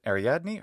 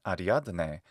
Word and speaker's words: Ariadne: And Ariadne, the daughter of King Minos of the Isle of Crete, in the classical Attic pronunciation, Ariadne in the modern Greek pronunciation, Ariadne, or even Ariadna in classical Latin.